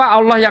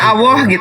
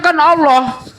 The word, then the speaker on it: Allah: Seharusnya Allah, kan? Tuhanku adalah Allah, bukan "Al-lah".